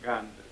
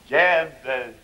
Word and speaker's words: Гендель: Меня зовут Бах, господин Гандер. Гендель, господин Бах. Бах. Гендель через Е. Простите, ну в вашем приглашении было написано... Ой, это англичане пишут Гандель. Произносит Гендель.